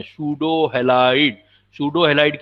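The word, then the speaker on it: pseudo: तीसरा बेटा एक पॉइंट आएगा आपसे, ये पूछा जाएगा सूडो हैलाइड, P साइलेंट है, सूडो हैलाइड, विच ऑफ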